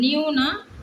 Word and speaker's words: knew: இப்போ பாருங்கள், இது நியூ, இதையும் நியூன்னு தான் நம்ம ப்ரொனவுன்ஸ் பண்ணணும். இது நியூனா புதியது அப்படின்னு அர்த்தம்.